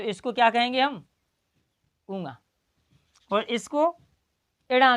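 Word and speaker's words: ङ: इसका कुछ कहते हैं अंगा। तो इसका सही है अंगा के रूप में, लेकिन इसका जो है सही उच्चारण है वो है क्या? ऊँगा। क्या है? ऊँगा।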